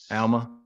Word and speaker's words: Alma: if you look at Alma 11 is it is that how you say it Alma it's Alma Elma so there's a conversation